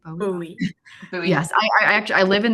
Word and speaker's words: Bowie: Am I pronouncing that correctly? Bowie.